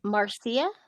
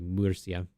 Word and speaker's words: Murcia: Well, you makes kind of an ooh, like so Murcia. Murcia probably is how it's pronounced. Murcia. Shouldn't you be rolling the R too? Murcia. There you go. Madrid. It's sort of like a light, without double R's, it's kind of a light roll, but that's the only blue one in Spain.